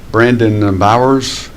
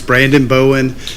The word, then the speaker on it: Brandon Bowen: thank you Nicole and next is Brandon Bowers hope I pronounced your name right and he's going to speak on old castle old castle matters uh yes Mr chairman it's Brandon Bowen um I'm 15 South